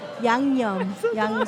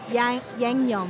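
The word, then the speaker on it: 양념: Yangnyeom. Say it Like correctly. yang, like Say it yang, correctly. and then yum. Yangnyeom.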